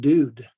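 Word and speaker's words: דוד: And so if you have a dalet and the u and then the dalet, that'd be pronounced dude.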